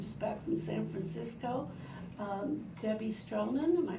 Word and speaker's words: Stroman: Debbie Stroman, am I pronouncing that right?